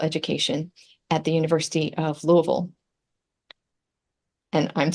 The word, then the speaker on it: Louisville: some very various things it is definitely never lville although that's the way the the city is spelled um you can say Louisville if you want to but now I I wanted to jump right in and sound like a local and said Louisville Louisville okay Louis Louisville okay Louisville it's almost like a two syllable long thing yeah so um